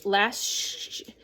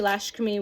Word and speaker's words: Lakshmi: Call in Lashkami, Lakshmi, I apologize for mispronunciation.